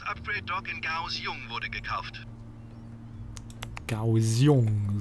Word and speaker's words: Kaohsiung: Kaohsiung, so wird das richtig ausgesprochen.